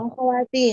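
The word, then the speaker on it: أخواتي: Kalau ikhwati hamzahnya itu letaknya di bawah alif Bu kalau dibacanya i. Kalau di hamzahnya ada di atas alif bacanya itu bukan kasrah akhawati.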